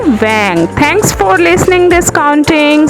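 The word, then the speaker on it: vingt: Vang. V-I-N-G-T, Vang.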